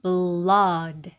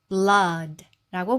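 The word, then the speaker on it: blood: 자 그럼 한번 읽어 보면 B는 브 소리인데 L은 받침 소리. 뒤에 모음 있기 때문에 모음 시작 소리를 한 번 더 해서 블러 블러가 되고요. 그리고 D는 지긋 소리데 홀로 있는 자음은 으 넣어서이 단어는 blod bl블 blod라고 발음하시면 되겠습니다. 그래서 오오오의 소리는 우라고 보통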